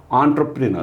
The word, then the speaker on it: entrepreneur: आणि ते right down entrepreneur, or it is pronounced as entrepreneur.